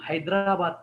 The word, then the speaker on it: हैदराबाद: जैसे हैदराबाद से रामावतार भैया है, हम हैदराबाद कहते हैं ना, अब हम हैदराबाद नहीं कहेंगे, हई का उच्चारण करेंगे। हम संस्कृत सीख रहे हैं, हई का उच्चारण करेंगे, नहीं ही ऐसा नहीं कहेंगे, आई का उच्चारण वहां पे करेंगे, क्योंकि हैदराबाद में रामावतार भैया रहते हैं।